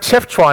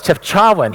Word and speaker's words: Chefchaouen: is another City right it's not it's not Jeff chuan it's chefchaouen he took me to